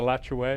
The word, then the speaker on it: Alachua: city of alachua way we were having a discussion with some young people about the pronunciation of a lottery it went on and on and on and i just left it alone but you you come down with the latch away i like your way okay i was born